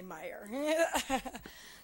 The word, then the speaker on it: Mayer: do have it my my name is spelled mayor but is actually pronounced Meer so I always appreciate people who understand the Germanic background and say Meer so um I'm very